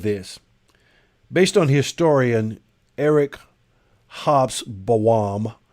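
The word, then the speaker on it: Hobsbawm: based on historian eric hops bowam h-o-b-s hobbs bawam i believe it is the correct pronunciation at the time of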